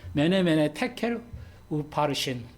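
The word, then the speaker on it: 메네 메네 데겔 우바르신: 데켈 테켈 우바르신 예 좀 발음을 제가 좀 우리말로 이렇게 해서 좀 하지만 좀 강하게 발음 정확하 발음해 매네 매네 테켈 우바르신 예 이렇게 돼 있어요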